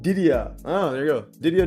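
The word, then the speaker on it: Didier: His first name is pronounced Ddia.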